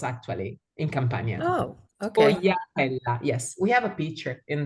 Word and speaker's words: Sfogliatella: Is that one the dessert, the sfogliatella? Sfogliatella.